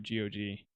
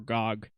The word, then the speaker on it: GOG: actually playing it through GG or Gog depending on how you pronounce it I've heard both uh oh god oh